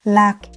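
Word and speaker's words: lạc: One syllable, slow, lack, heavy falling tone.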